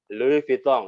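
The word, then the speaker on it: Louis Vuitton: yang paling tahu ya elfit live pisang Gimana bacanya lalui Pitung itu harus jadi kalau normatif di akhir kelas beregu weh halus piton Nah itu salah itu jadi ada-ada qalqalahnya juga nih kalau gue baca luvitong yaitu harus jelas ya kok Oke ini si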